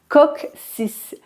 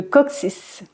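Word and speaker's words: coccyx: Co CC y X et sa prononciation est légèrement différente puisqu'on le prononce de cette manière cooc 6 le COC 6 par exemple après s'être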